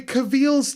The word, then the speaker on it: Cavill: to be a robot oh cavil is pronounced like travel travel you see I'm not